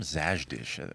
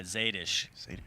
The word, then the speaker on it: Zadish: I was calling him Zajdish. I was literally talking to him an hour ago. What am I doing? Yeah, Zadish. Zadish.